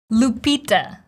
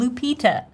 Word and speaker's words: Lupita: First of all, her first name, Lupita. The stress goes on the second syllable, P, long E sound, Lupita. Lupita, right? And in the end, we have the schwa, this neutral, Lupita.